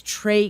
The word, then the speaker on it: Trae: My rave is about this comedian whose name is Trey Crowder. His first name is spelled Trae.